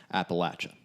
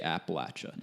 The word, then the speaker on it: Appalachia: If you throw a Y in there, it's game over. Appalachia, no. There's no Y.